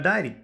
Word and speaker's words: diary: जेव्हा आपण डायरी शब्द लिहायला घेतो तेव्हा डी नंतर लगेच ए लिहायचा प्रयत्न करतो, किंवा ह्याला डेअरी पण म्हणू नका.